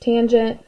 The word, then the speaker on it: tangent: adjacent over hypotenuse and our last one is abbreviated as tan but again still pronounced tangent of theta is equal